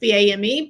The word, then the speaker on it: Boehm: You said it rhymes with something. BAME, lame, tame, game.